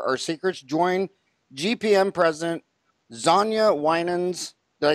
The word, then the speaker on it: Xaña Winans: ready to share our secrets join GPM president Sonia Winans did I say it right you did have